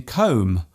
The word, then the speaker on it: comb: For example, the B in comb, womb and bomb. There is only one letter change between these words, yet they are pronounced differently.